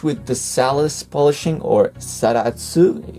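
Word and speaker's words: Zaratsu: It is finished with the Salus polishing, or Saratsu if you say it in Japanese pronunciation, which is the same technique Grand Seiko uses on their watches, which is super well finished.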